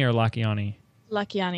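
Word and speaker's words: Lakhiani: said I say his name right is it lakhani or la kiani lucky on e la kiani and it's about how to be on f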